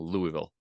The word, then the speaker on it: Louisville: Louisville Kentucky how am I doing Dan saying Louisville say it again Louisville that's perfect is it